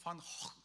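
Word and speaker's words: Van Gogh: 고라고 읽는 거예요. 너무 신기하지 않아요? 원래 그 빈센트 판고 흐는 네덜란드 사람 빈센트 판 확 이게 약간 이제 그 쥐발가 더럽게 나오잖아요.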